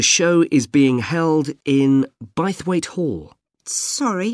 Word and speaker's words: Bythwaite: is being held in bythwaite Hall sorry how do you spell that b why th w a i t e bite weight is it easy to